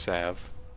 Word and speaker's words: salve: It does have an L. he's right, but you don't pronounce it.